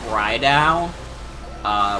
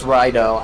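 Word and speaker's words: Raidou: And then I also got Rydao, which is like the SMT action game. That's another thing. Yeah, it's Rido, I think. Oh, Rido. That's how they pronounce it in game, yeah.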